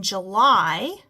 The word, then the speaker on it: July: going to say e but in July it makes a a long I sound and in rely it makes a long eye sound so most of the